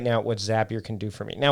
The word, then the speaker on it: Zapier: That's Zapier, which rhymes with happier.